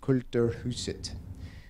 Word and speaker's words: Kulturhuset: This is the Culture House, or as they pronounce it there, Kulturhuset. And I show it here because it shows a sunken plaza.